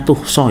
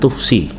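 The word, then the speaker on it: تُحصى: Ini bacanya tuhso ya, bukan tuhsi. Kalau tuhsi engkau menghitung, kalau tuhso terhitung. Bedanya apa? Kalau tuhsi itu di sini, kalau di sini shotnya itu kasroh, pasti yaknya itu punya titik. Tapi karena di sini yaknya nggak punya titik, berarti bacanya tuhso.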